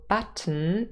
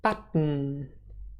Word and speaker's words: button: spelling slightly different pronunciation so button again final syllable schwa and the nasal um but when we say it fast often it's realized as button button and the um is a syllabic consonant one more example for